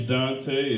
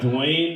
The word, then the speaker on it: Duante: My name's Dante. It's spelled all fucked up, though. Yeah, it's Duante. So I get everything from Duante to Duante. I even got Dwayne before, like the T silent and shit.